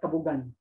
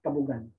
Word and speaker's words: kabugan: So in Tagalog, you call that kabugan. And many non-locals from there would pronounce it as kabugan.